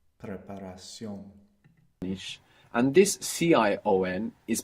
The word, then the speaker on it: preparación: Now, if it's shun, Tion, if we have shun, it's going to be Cion in Spanish. Preparación.